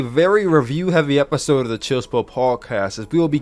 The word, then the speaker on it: Chill SPill: Anyway, guys, this is the 62nd edition of the Chill Spill podcast. The S is silent, by the way.